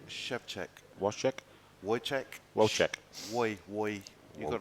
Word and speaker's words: Szewczyk: How would you pronounce his name? So it's Wojtek Szewczyk.